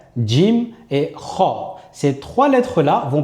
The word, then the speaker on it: ج: On va commencer par la lettre Jim. La lettre jim, c'est comme si vous aviez un j et devant vous mettez un d. D. Vous allez la prononcer et sachez qu'elle est un petit peu sèche lorsque vous allez la prononcer.